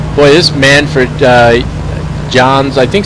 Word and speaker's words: Jahns: this man for uh J's I think somebody said it might be pronounced yans like with a Y this thing is beautiful